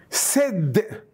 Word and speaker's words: said: This is pronounced as eh, like in these three sounds are pronounced as a. Said.